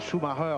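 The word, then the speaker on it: Schumacher: Michaël encore dit Michael Schumarer si on veut le prononcer à l'allemande.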